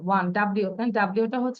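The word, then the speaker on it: one: কারণ ওয়ান এর উচ্চারণটা ওয়া, ডাব্লিউ এ এন, ওয়ান, ডাব্লিউটা হচ্ছে কনসোনেন্ট।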